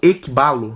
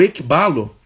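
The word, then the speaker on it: ἐκβάλλω: a mensagem do Reino é a palavra grega ébalo né ou equibalo me corrijam aí na pronúncia esse k b a 2l e o esse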